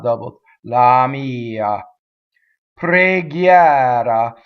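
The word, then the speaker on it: preghiera: So here we have a word that we often open on the first syllable. Pre. It's preghiɛra, right? So the stressed one is open, and the first one, the unaccented one, is closed.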